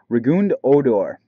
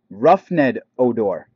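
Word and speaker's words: Rougned Odor: And finally we have Rigund Odor. I don't know how to say his name properly. That's what it is, Roughned? Roughned Odor, excuse me. Now I know how to properly say it.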